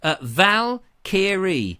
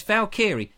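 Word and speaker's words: Valkyrie: what that really means Val kiri oval kiri there we go you see it's easy when it's ER when it went you know put phonetically it's very easy sorry felt kiri fell kiri there we are it's Val kiri Thank You Valkyr lovely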